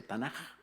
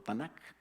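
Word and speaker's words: Tanakh: jimmy el que tuvimos así se pronuncia tan o tanak con qué y entonces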